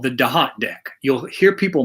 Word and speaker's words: Thoth: usually call it the thoth deck it's spelled t-h-o-t-h but in egyptian that is pronounced da hot like d-a-h-o-t well in the temple